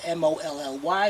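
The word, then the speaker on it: Mahle: best you can get now they don't spell it spell it m o l l i e or m o l l y is m a h l e Molly show you a minute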